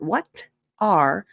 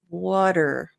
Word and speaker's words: what are: Now, for the pronunciation, notice it's not what are, water, water. It's almost like water, but smaller.